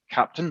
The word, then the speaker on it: Keptn: introduction about captain uh pronounced captain not captain um the reason it's called that is because that is the german phonetic pronunciation of captain and sticking with the